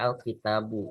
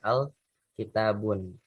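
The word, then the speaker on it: الكتابُ: Kayak dibacanya al kitabu, bukan al kitabun.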